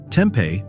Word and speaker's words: tempeh: Tempeh, pronounced tempeh, is a traditional Indonesian food made by fermenting whole soybeans and pressing them into a compact block.